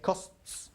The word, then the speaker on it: costs: a nice little trick a nice way of remembering how to pronounce that final s on verbs that end in st okay okay that way you won't get tied with your tongue okay costs again let's move on